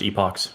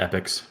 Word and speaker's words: epochs: of next cycle and epochs is pronounced epochs not epics and I will die